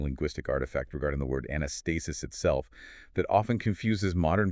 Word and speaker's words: Anastasis: If you attempt to pronounce it with a hard English C, you end up with Anatacic, which is meaningless.